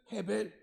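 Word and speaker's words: הבל: 헛되다라는 말이에요 물론 우리는 아벨이 원래대로 발음을 하면 헤벨 이렇게 되는데 그 헤벨이 아벨이 아벨이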